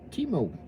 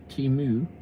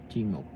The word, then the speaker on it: Timo: Pronounced Timo. Not Timu, Timo.